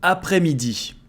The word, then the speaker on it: après-midi: Bon après-midi. So again, we don't say that, so let's just look at après-midi. Après, we don't pronounce the S. Après-midi.